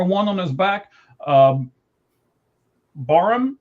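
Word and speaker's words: Barham: Um, Barum, B A R H, I believe is how you say it. Barum.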